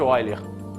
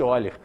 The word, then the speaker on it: Euler: tenho agora relação de eiler ah Rodrigo tá escrito Euler eu sei ele era um matemático alemão tá escrito Euler mas pronuncia esse erer continua o que que